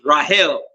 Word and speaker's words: Rachel: Do you know that the correct way to pronounce Rachel is Rahel?